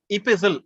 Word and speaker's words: epistle: ஆனா ப்ரொனன்சியேஷன் கொஞ்சம் டிஃபரெண்ட். அந்த டி வந்து சைலண்ட், EPISTLE, டி சைலண்ட். இபிசில், ஆனா இபிஸ்டாலரி அங்க வந்து டி ப்ரொனன்ஸ் பண்ணுவோம்.